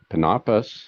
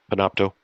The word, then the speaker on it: Panopto: were using Zoom but panus is that how they pronounce it the the class recording panopto yeah panopto thank you so there's